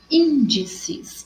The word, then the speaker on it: índices: Então, ó, índices, o in é mais forte, proparoxítona recebe acento, terceira sílaba. E último, proparoxítona, terceira sílaba, recebe acento.